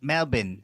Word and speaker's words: Melbourne: that how they say it in Australia Melbourne Melbourne yeah they say Melbourne they do yeah yeah